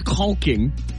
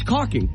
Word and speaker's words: caulking: You don't pronounce the L. Isn't there an L? See there? It's not pronounced caulk. No one says caulking. It's caulking.